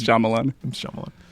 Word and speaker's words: Shyamalan: movie the visit i did i am night shamalian shyamalan is it pronounced shyamalan yeah i didn't wanna i was trying to be fancy it's shyamalan so yeah so that's the movies we're going